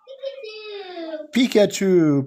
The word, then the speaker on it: Pikachu: Pikachu.